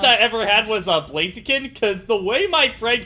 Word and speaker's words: Blaziken: ever had was uh blaziken because the way my friend kept pronouncing him back i wasn't playing pokemon yet but he kept pronouncing it as like blaze of cannon and i thought it